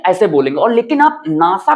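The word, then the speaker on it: NASA: बी एंड आई तो ऐसे में जब आप प्रोनाउंसिएशन करेंगे तो इसको बोलेंगे एब्रविएशन राइट ऐसे बोलेंगे और लेकिन आप नासा को ऐसे नहीं बोलते हैं एन ए एस ए अगर आप इसको ऐसे बोलेंगे ना एन ए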